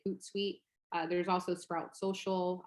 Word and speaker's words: Hootsuite: b-u-f-f-e-r there's also a hootsuite which is spelled h-o-o-t and then sweet as in like a guest suite like at a hotel or like a suite at a hotel so um s-u-i-t-e hootsuite uh there's also sprout